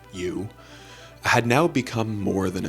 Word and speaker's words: Eu: James' AI, which was named you, spelled EU, but pronounced U, had now become more than a chatbot.